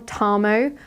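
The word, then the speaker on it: Tarmo: Um but I know that the Finnish R sound just cannot physically be made by my mouth. So, I'm just going to call this yarn Tammo, but it is spelled T A R M O.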